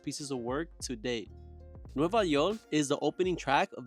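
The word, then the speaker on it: Nueva Yol: in New York City the title refle the phonetic pronunciation of New York in Puerto Rican Spanish Bad Bunny samples in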